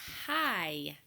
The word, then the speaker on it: high: same ending sound as hi hi okay so we did not focus on this silent consonant pattern but in the word hi the G and the H are totally silent so when we worked